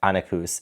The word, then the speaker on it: Anequs: now comes out and wants to be with Annacus. And I believe that is the way to pronounce her name because there's there is a